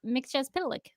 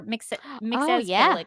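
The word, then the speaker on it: Mxyzptlk: I think worked, was the return of Mixes-Pitalik, or Mixes-Pitalik, I think is how they say it on the show.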